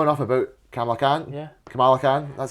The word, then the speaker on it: Kamala: Kamala Khan, that's how you say it. Kamala.